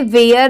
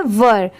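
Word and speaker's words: were: ई आर ई वर इसे वेयर नहीं पढ़ेंगे बहुत सारे लोग इसे वेयर पढ़ते हैं बट यह रॉन्ग होता है यहां पर इसकी प्रोनंसिएशन क्या है वर ये है मैट एम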